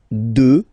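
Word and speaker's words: deux: 2, final X not pronounced, okay?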